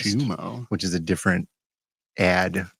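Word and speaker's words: Xumo: Pluto TV is Viacom, CBS, and Zumo or Shumo, because it's spelled in X, is owned by Comcast, Shumo.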